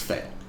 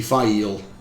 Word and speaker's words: Faile: always read it as Fail. And in my head, it was always Fail. So yeah, her name was Fail. It's supposed to be Faile, but no. The E is silent.